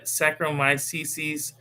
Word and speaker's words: Saccharomyces: Yeah, Saccharomyces cerevisiae.